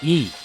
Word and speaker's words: いい: Originally the adjective e was pronounced yoi and written using kanji is shown.